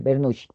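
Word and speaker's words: Bernoulli: Se escribe Bernuli. Bueno, si lo leen en español no hay lío, también se puede leer vernughi.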